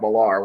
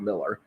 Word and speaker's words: Millar: I've said it in my head too many times as Mark Millar when it's just Mark Miller.